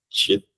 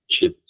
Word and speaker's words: cheat: Cheat, cheat, Isso.